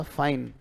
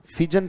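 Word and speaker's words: feign: इसका उच्चारण ये रहेगा बेटा, फाइन। फिजन फिजन मत करना कहीं, इसको फैजन फिजन करो।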